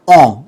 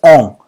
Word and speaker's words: en: Entonces tenemos que los femeninos van a utilizar la preposición on, ¿ok? On. Recuerden que la pronunciación es muy nasal, ¿ok? Es on.